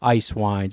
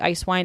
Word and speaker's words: Eiswein: and the German ones it sounds like ice wine it's spelled a little bit differently so it is spelled